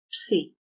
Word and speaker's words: Psi: For the Ps sound, we have Psi. Capital Psi, lowercase psi. Xi and Psi, when pronounced in Greek, have 1 sound. You just have to say it fast.